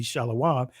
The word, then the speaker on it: shalom: as you see here people would say shalom but this would be shalawam the this reflects the